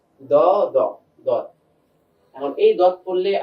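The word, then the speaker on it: ض: সদ আবার সদ এরপর আমরা চলে যাই দদ দদ। দদের উচ্চারণটা তুলনামূলক অন্যান্য হরফ থেকে একটু কঠিন হয়। কঠিনটা কেন হয়? কারণ জিহ্বার কিনারাটা এটা উপরের মাড়ি দাঁতের সঙ্গে লাগাতে হয়।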